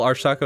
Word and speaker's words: archtalko: I actually spell Arch Taco as ARCHJALKO, but just it's pronounced like the T, so the T's in the handle to make more sense.